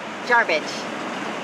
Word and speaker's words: Jarbidge: Hey, we're headed to Jarbidge. Hard to pronounce, but Looks like garbage. yeah, it sounds like garbage, only it's Jarbidge.